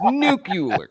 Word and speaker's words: nuclear: It's nuclear.